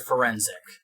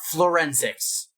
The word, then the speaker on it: forensic: Can anybody on Psychopathic Records pronounce the word forensic? Oh, God. Can anybody do it? There is no L. It is not forensics.